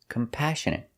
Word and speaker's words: compassionate: our next word is compassionate we put the stress on each second syllable compassionate compassionate means you feel